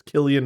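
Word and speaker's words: Cillian: San Killian Murphy hey Siri how do you pronounce Killian Murphy's name it is with a hard SE it's Killian Murphy all right it's it's of his it's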